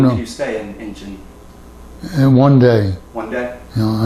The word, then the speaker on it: Incheon: Now, you said you arrived in Incheon, Korea first. In where? How do you pronounce that? Incheon?